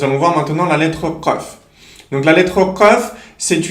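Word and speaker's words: قاف: C'est de répéter à répétition, iq, uq, aq, aq, iq, uq. Donc en répétant de cette manière-là, ça va nous permettre de nous entraîner à prononcer la lettre Qaf, Inch'Allah.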